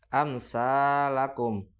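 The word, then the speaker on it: أمثالكم: Amsalakum. Amsa. Tidak dibaca dengung. Itu salah. Tetapi dibaca amsalakum. Amsa. Dibaca jelas karena mem sukun bertemu dengan huruf sa.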